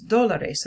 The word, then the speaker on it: dólar: Los dólares, repitan. Both have accent marks. Dólar. Dólar. The loudest stress is on the O of that word.